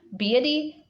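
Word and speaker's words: Beattie: his British instructor John BT that's how you pronounce his name John beauty comes plays a major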